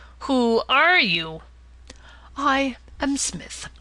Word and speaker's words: Psmith: are you I am Smith said the old aonian reverently there is a preliminary P before the name this however is silent I like the tomb